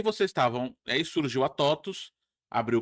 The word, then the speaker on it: TOTVS: E você tem muitas outras palavras, né, que são latinas que o V se pronuncia U. Exato. E aí vocês estavam aí surgiu a totus, abriu o capital e aí vocês cresceram absurdamente.